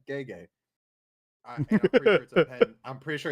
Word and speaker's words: Gege: And it said Gege.